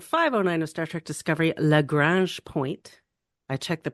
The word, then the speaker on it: Lagrange: review of episode 509 of Star Trek Discovery L Grange point I checked the pronunciation after I heard Telly say it and